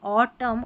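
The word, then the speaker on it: autumn: जैसे ऑटम और कॉलम में यहाँ पर एन जो आखिर में, इसका उच्चारण नहीं हो रहा।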